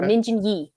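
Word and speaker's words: Min Jin Lee: Minjin Lee, or Minjin Yi, as how you would properly pronounce it.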